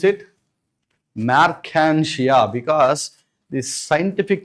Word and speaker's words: Marchantia: But the best example for thalloid plant body is Marchantia. Just pronounce it. Marchantia because these scientific names you must repeat along with the teacher.